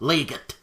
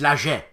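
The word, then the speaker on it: Laget: games designed by serge that's the way it's pronounced not legit it's lager trust me i know so what's the connection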